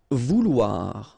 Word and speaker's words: vouloir: Vouloir, okay, OU, OU, and then OI, OA, so vouloir, okay.